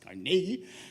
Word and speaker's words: Carnegie: It's pronounced Carnegie.